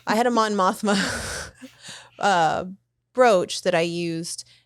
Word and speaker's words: Mothma: mothma I have to remember the right way to say it so I don't say Mom ashma I had them on mothma uh brooch that I